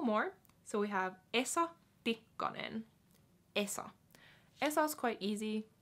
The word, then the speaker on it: Tikkanen: Tikkanen.